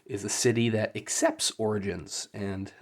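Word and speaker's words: orogene: husband has killed their son because he's an Origine. I want to call it Origine, but apparently it's pronounced Origin, meaning that they can absorb energy, which is very frowned upon this world.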